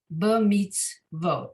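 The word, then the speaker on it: במצוות: Then there's a shva under the tzadi, the last syllable, the last letter of the final syllable.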